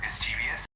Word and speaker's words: mischievous: Um, just a couple of tiny things for mischievous. it's pronounced with the emphasis on the miss part and the e is a bit softer.